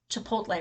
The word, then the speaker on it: Chipotle: It just, personal note, this week I found out after 15 years of living in Las Vegas that I was saying Chipotle wrong.